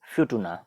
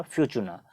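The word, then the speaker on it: Futuna: उसके बाद एक यहाँ पर आपको दिख रहा है वॉलिस एंड फ्यूटुना। इसको इसी तरह से प्रोनाउंस किया जाता है, वॉलिस एंड फ्यूटुना या फ्यूचुना, वॉलिस एंड फ्यूटुना।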